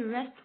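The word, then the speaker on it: wrist: अब यहाँ पे हम W नहीं बोलेंगे, इसे बोलेंगे रेस्ट वॉच, रेस्ट वॉच।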